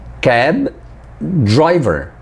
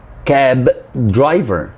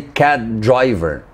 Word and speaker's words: cab driver: say cab driver now notice how I stopped before pronouncing the B and when I released I didn't actually pronounce the b i pronounced the the